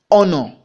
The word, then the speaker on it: honor: The same thing apply to example B, an honor, an honor. You pronounce honor with the vowel sound O, so which is a kind of vowel letter. So therefore we have a vowel sound there.